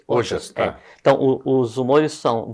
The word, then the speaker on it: Ojas: O-J-A-S. Ojas, tá.